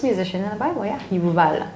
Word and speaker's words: Yuval: So the first musician in the Bible, yeah, Yuval, not Jubal, Yuval. That's the proper way to pronunciate it.